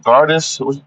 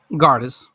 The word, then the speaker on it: Gardis: Uh Gardis. How you say her name? Gardis. Yeah, you got it.